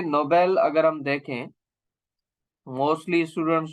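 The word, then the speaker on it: Nobel: Of person, ठीक है, नोबेल। तो ये हम इसको पढ़ेंगे नोबेल प्राइज, ना के नोबल प्राइज। नोबल प्राइज नहीं होता है, नोबेल प्राइज होता है, इसको हम ऐसे पढ़ेंगे।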